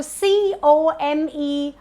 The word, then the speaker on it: comedian: So comedian is not comedian, but it's comedian. The stress is on me, comedian. That's the right way to pronounce this word.